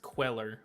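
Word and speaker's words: Cuellar: sort of favors this is a republican it's pronounced queller okay is this guy republican democrat well that's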